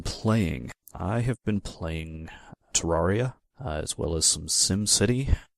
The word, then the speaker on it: Terraria: Why don't you sell me on Tiara? I can't even pronounce it. Terraria.